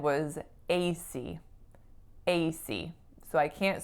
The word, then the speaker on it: AC: it correctly or not so for this one I'm not why not it's because of my stress right so in this case I should be saying AC C AC but what I said